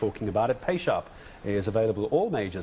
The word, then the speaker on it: Payshap: And by the way, I know you're struggling with the pronunciation. Payshap, right? Oh. That's what it is, Payshap.